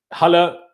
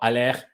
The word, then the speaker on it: Haller: Haller, or Aller, if you want to pronounce him the French way, went to West Ham, dead.